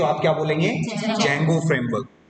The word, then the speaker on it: Django: इसमें आप ध्यान रखना, स्पेलिंग जो है डी से स्टार्ट होती है तो इसको डिजैंगो प्रोनाउंस नहीं करना है, डी साइलेंट। ठीक है, तो आप क्या बोलेंगे? जैंगो framework.